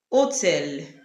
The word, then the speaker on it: hôtel: The French H is usually silent, whether it is appearing at the beginning, in the middle, or at the end. Examples, we have hôtel, véhicule. The H itself is not pronounced. You can hear the other letters pronounced, but the H is silent.